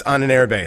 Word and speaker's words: Ahnenerbe: I'm pronouncing it correctly now so people stop yelling at me for saying it wrong. It's on an airb. That's how I'm saying it.